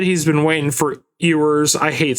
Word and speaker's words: Ewers: Yeah, I mean, either that, like, Drewski said he's been waiting for Ewers. I hate saying his name because it's so hard for me to pronounce. Ewers? Yeah. No, Ewers.